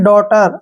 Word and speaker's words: daughter: DAUGHTER, AU फिर से आ गया, इसको पढ़ेंगे डॉटर। अब इसमें भी GH आया है तो ये साइलेंट रहेगा, डॉटर, ठीक है ना।